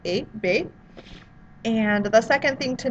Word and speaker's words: Hébé: So just like in the name here, Hébé, it's as if that H isn't even there. It's just there to look good, I guess, because we're just pronouncing it Hébé.